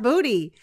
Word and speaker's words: Bode: it's Bodhi and I've also seen it spelled b-o-d-e Bode but it's it's not going to bode well that's what I could but it's pronounced body I feel like it's overdone oh there's a